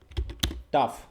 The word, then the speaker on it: tough: আচ্ছা, তো এখানে এবার মনে করো যে ওই যে বললাম যে TOUGH, এটার বাংলা হচ্ছে কি? উচ্চারণ হচ্ছে টয়াকার ফ, তাই তো? টাফ।